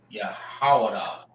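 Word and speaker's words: יהודה: Now, the color for these brothers is his name is Yahawah. Yahawah, which is Judah in the Hebrew, and they are the so-called African Americans.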